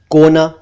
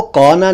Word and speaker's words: कोना: और भी कई शब्द हैं जैसे कोना, कोना को कौना नहीं कहना चाहिए, यह है कोना, कॉर्नर, कोना।